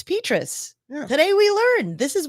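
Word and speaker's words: Petras: time we recorded this his name apparently is pronounced petus the good news here that is completely the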